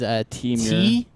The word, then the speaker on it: Temur: So this is Temur. Team here. It's like lemur. But Temur.